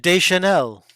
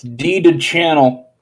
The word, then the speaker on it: Deschanel: Diane Deschanel. Spell it however you want. It's deeded channel. Actually, it's Des Chanel.